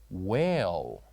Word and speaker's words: whale: The silent letter here is H. Whale.